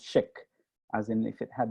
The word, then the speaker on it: Szyk: born first of all their last name is pronounced chick as in if it had an SH in